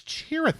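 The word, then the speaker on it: Chirithy: name actually is chiy I think I said it wrong earlier it's a cheer cheer sorry it is chery it's a harder name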